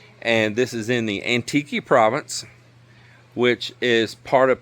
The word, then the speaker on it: Antique: So this is the Antique province. The word sounds like, if you read it, it looks like it says antique, but the Filipinos pronounce different, and it's Antique.